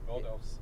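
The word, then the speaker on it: Ρόδος: Well, how do you say it? Rotos. Rotos. That's Greece. Yeah, Greece is over down here. This is Rotos.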